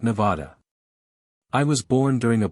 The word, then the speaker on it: Nevada: "Nope, and I pronounce it Nevada.